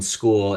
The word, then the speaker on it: Skool: So what we had done is we ended up launching a community on a platform called School, and that is spelled SKOOL on School.